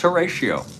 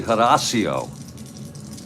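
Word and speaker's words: Horacio: htio I means yeah it's heratio it's really Hario if you want to pronounce it correctly Hario paa here's the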